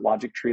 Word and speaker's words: Logictry: logic TR um but we pronounce it logic tree like history or chemistry is because we as